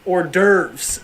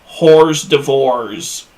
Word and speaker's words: hors d'oeuvres: So apparently it's not whore door, it's hors d'oeuvres. I once saw somebody refer to them as whores d'ivores.